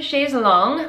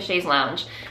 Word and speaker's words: chaise longue: I'm sitting on my new chaise longue, which I mispronounced the last episode. I was calling it a chaise lounge because apparently I went through my whole life thinking it was a chaise lounge. I stand corrected.